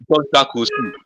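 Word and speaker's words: Jean-Jacques Rousseau: who talked about the social contrast theory, uh, John Jack Rousseau. John Jack Rousseau. Should I spell his name? Yes, sir. John Jack Rousseau is spelled Jen.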